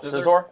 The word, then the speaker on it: Scizor: How do you pronounce it? Scizor?